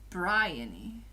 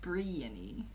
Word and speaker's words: Bryony: It's pronounced Bryony instead of Briany.